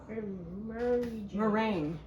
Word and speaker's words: meringue: Set aside while you make the Meringue. meringue. I know, doesn't sound like it's spelled at all.